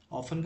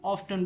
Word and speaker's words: often: Activities सरगर्मियां ऑफन अक्सर, ऑफन का मतलब होता है अक्सर, रिजल्ट यानी नतीजा। दोस्तों ऑफन है, इसके अंदर जो टी है वो साइलेंट है, कुछ लोग इसे ऑफ्टन भी पढ़ते हैं।